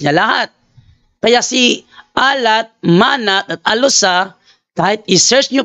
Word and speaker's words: Manat: Para makita ninyo, Manat. Si ano lang muna, mag-focus tayo kay Manat. Manat. Ito. Ito. Ayan o. Si Manat. Sino si Manat? Manat. Yan. Arabic pronunciation, Mana.